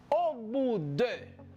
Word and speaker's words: au bout de: Au bout de. Au bout. Au bout. La T no se pronuncia. La O y la U se pronuncia como U. Por lo tanto, yo digo au bout de.